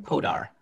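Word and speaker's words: Poddar: This is from our dear friend, Rukmini Priya Potter. Am I pronouncing your last name right? Podar. Like Hanuman Prasad Podar?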